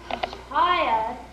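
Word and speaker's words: צל: No, dear girl, say it like this. Chaya, Chaya. You know, like chai, the tea.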